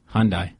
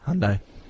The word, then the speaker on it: Hyundai: what what car were they in a Hyundai Hyundai is that you pronounce it yeah Hundai right now you get all Meek usually all